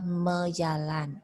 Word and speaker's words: majalan: Contoh mejalan, walaupun tulisannya majalan ya.